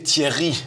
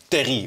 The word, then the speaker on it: Thierry: à consonance française oui c'est très difficile en fait pour les Hollandais pour de de prononcer Thierry dans une manière française donc ils disent souvent Terry ou Thierry c'est c'est pas aussi français que le nom indique alors le forum pour